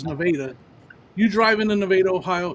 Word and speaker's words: Nevada: You drive into this, it's called Nevada, spelled like Nevada, but it's Nevada.